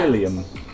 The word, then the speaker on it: Philium: pronounced Philium. It's left. Philium. Philium. Like William with a f.